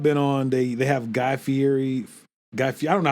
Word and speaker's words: Fieri: So the ones I've been on, they have Guy Fieri, I don't know how to pronounce his last name. Fieri, I think. Yeah, because it looks like it says fiery, but I know it's not pronounced fiery.